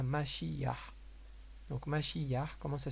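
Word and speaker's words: משיח: Donc on a fait rouah, maintenant on va passer à mashiyah. Donc mashiyah, comment ça s'écrit?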